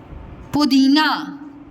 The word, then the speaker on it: पुदीना: पू पुदीना, पुदीना, पू दीना, दी और ना, पुदीना, पुदीना।